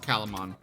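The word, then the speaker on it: Calumon: montz c-a-l-u-m oh column on okay yeah it's pronounced calaman yeah it's a little pink it's a little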